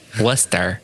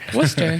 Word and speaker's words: Worcester: yep yep clearly yeah not lester worcester oh see at least i don't call it worchester okay yeah that's right